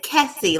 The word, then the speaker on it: Kesse: It's Kesse, like Jesse.